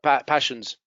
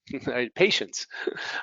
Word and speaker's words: patience: Patience, they say, I have a lot of passions. A doctor said, I have many passions. Yo tengo muchas pasiones. Patience.